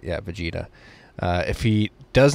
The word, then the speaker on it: Vegeta: defeating Vegeta I said it right right yeah Vegeta if he does not destroy you we will